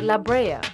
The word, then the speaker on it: La Brea: the island La Breeze a Spanish word pronounced La Brea which means pitch or